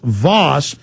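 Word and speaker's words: Vaus: It's V-A-U-S. Steve, V-A-U-S, Voss.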